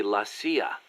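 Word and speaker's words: la CIA: around here they say la sia instead of c.i.a nothing strange about it that's how it's pronounced when you read it in spanish it has the feminine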